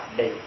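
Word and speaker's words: عبدي: Abdai. Bacanya abdai. Isim musanna. Aslinya abdaini. Namun ketika dia mudhaf, lafzul jalalah Allah mudhafun ilaih, nunnya dibuang. Karena idhofah tidak bisa bertemu dengan tanwin.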